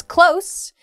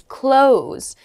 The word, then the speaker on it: close: to take a bath next is close meaning to be near uh and the other pronunciation is close meaning to shut or it can also mean to end um so